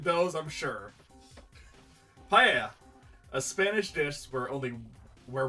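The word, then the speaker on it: paella: butchered those I'm sure PA a Spanish dish where only where one Cooks rice meat seafood and vegetables in a shallow pot seasoned with sapon coming from the Mexican here is pronounced paa fair enough Nasi gorang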